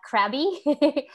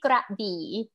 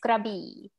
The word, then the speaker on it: Krabi: known is called grabee a lot of time tourists would read this uh krabby but it's actually grabbed okay yes krabi um so the the